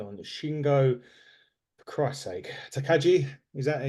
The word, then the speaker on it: Takagi: For Christ's sake, Takagi, is that how you pronounce it?